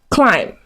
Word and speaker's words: climb: Okay, it was a tough climb. Okay, so do not pronounce the B.